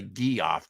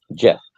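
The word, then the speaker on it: Geoff: you say his name I always want to say g off John's Jeff Jeff okay Jeff John's wrote it so it's probably pretty it's a weird spelling yeah g off Roadhouse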